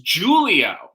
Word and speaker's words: Giulio: His name is Giulio. Well, Giulia, or like Julia in Italy, they will spell it with a G.